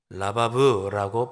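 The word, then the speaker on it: רבב: 1절에 나오는 이 번성하다는 말은 히브리 원어로 라바브라고 발음하는데 그냥 숫자가 1명, 2명, 3명 늘어나는 것을 의미하는 표현이 아니고 엄청나게 무수히 많은 숫자가 갑자기 증가하는 것을 나타내는 표현이 라바브라고 하는 단어입니다.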